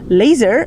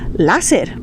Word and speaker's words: láser: Por eso, en lugar de decir laser, nosotros diremos láser. ¿Por qué? Porque el laser está escrito con una letra A, entonces vamos a pronunciar lógicamente láser.